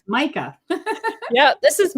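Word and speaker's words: Mika: The other dog is spelled M I K A. So, you would be Ma and Ma, but it's not. This is Micah. Yeah, this is Micah.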